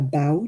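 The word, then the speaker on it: bough: know the branch is going to call it a bow don't i mean i know it's about b-o-u-g-h but still still pronounce the same yeah my dad used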